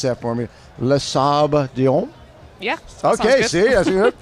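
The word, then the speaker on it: Les Sables: And you're going to pronounce that for me? Lasab.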